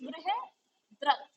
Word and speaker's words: बृहद्रथ: Spelling दे रखी है, और अगर हिंदी में हम देखें तो दैट इज बृहद्रथ। बृहद्रथ, ठीक है। तो इसको करेक्ट कर लेना, क्योंकि इसमें स्पेलिंग में कुछ इन्होंने मिस्टेक कर रखी थी, जिससे कि वो प्रोनाउंसिएशन सही नहीं आ रहा था।